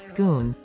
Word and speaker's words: Scone: government announced that the stone of scone pronounced schoon also known as the